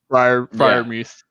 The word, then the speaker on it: Freiermuth: Yeah, and Sam, on your point about Freiermuth, or is that how you pronounce the name? Freiermuth? Freiermuth.